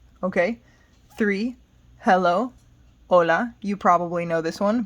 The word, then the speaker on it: hola: say it like that hola you do not say the h don't say hola i do that to joke around with people but it's not correct okay four what's up